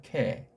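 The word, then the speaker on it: καί: 자, 카이자 이거 이제 제대로 읽으려면 캐라고 읽는 것이 좋다고 했죠. 캐 우리 글로 표시하면 이 아자에다가 이게 아자잖아요. 그 다음 이 이자를 이렇게 캐라고 발음하는 게 맞습니다.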